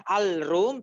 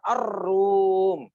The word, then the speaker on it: Ar-Rum: Walaupun nanti dibaca lagi-lagi tulisannya Al-Rum tapi bacanya Ar-Rum. Ya Ar-Rum ya begitu.